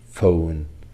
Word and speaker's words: phone: third sound phat sound phone elephant telegraph photography the letters P and H in phone stands for one consonant sound the same sounder than